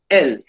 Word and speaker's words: elles: The S is not pronounced at the end. ILS, il and ELLES, L, il and L.